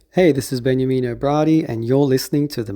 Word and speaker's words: Bradi: y Sydney Australia well Brady is that how you pronounced your surname that is correct yeah um y